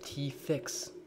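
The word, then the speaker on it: TFix: to say I'm using a fan patch called T fix spelled TF iix basically the same way you pronounce it so uh which for once improves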